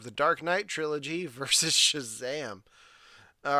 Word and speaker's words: Shazam: Alan, it's pronounced Shazam every time. There's an It's exclamation point at the end. It's just Shazam.